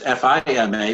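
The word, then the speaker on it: FIMA: want to know because it's not Fe M a which is the disaster relief agency it's FIA MA which is apparently the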